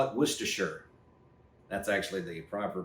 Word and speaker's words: Worcestershire: we're your sister sauce uh I call it Worcestershire that's actually the proper pronunciation I'm not trying to flex but uh